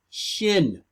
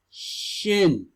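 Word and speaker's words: ש: will see a letter that looks like W. It's not a W. It's Shin. You will read that in the paleo Abry. You will see that W looking letter and you will hear it pronounced Shin. Yahusha.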